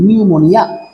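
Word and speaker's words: pneumonia: সেই নিউমোনিয়া ওকে তো যাযা বলছিলাম ওভার পিরিয়ড অফ টাইম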